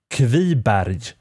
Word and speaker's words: Kviberg: you pronounce the name in this case it's pronounced heavy barrage now the second part of their bad is